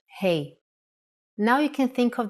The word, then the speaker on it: ה: Doesn't Hey from this lesson sound like Hey in English? When you say hello to your friends? That's exactly the sound for the Hebrew letter Hey.